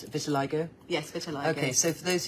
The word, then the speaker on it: vitiligo: pd2 yeah now buy to like I always mispronounce it Vitiligo yes okay so for those who don't know